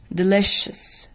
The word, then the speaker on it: delicious: بصوا delish السي مع الاي اتنطقت ش. Delicious.